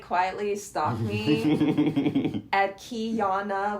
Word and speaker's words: Kyanna: quietly stop me at kyana which is the pronunciation of my first name so I'll put it